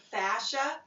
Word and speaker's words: fascia: If you put fascia, and it's spelled, by the way, F-S-C-I-A, it doesn't really spell like it sounds.